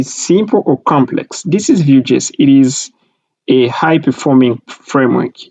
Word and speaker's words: Vue: Vue, V-U-E, pronounced Vue.